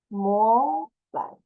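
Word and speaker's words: 模板: More. The more is like the table, but change to M. More. Second tone. More. And bun will be like the hot cross bun. The bun, the UN, the pronunciation is third tone. Bun. More bun. Bomber.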